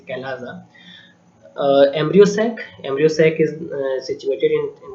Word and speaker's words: chalaza: The spelling is CHALAZA, so sometimes it is also studied or pronunciated like chalaja, but it is not the chalaza, it is calaza.